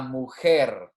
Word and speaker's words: mujer: h is silent la mujer remember that j is like our h that would be the